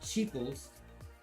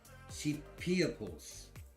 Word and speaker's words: cheapiables: And say it right, not cheaples or cheap peoples, it's cheapiables.